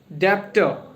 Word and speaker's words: debt: to be a word debtor, but it is incorrect. Debtor. It is not debtor, it is debtor. Okay, B is silent. So debt. So it is not debt, it is debt.